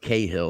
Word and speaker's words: Cahill: this video was with dolores cahill uh cahill if you want to pronounce it from the americanized version but she was a